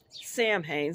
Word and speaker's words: Samhain: Um Also, um around Samhain, some people pronounce it that way.